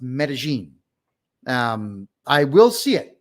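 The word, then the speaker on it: Medellín: That's so if you ever see Medelin, that's pronounced Medigene.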